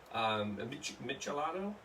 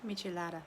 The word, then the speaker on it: Michelada: A Michelado? Did I say it right? Michelada.